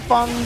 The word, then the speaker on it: Fang: them is it Fong I call him Fong because that's the Chinese pronunciation of it yeah yeah but Ricky